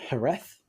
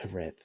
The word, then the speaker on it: Jerez: Like it's, but it's definitely not a J that you pronounce it. But yeah, it's the Z always catches people out. It's like some people like a TH, some people say it like a Z.